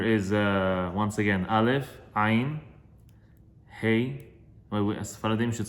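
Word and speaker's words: ה: Ashkenazim pronounce it hey. But it should, all of us, Sfaradim say he, but we should also, it's also a letter of breathing.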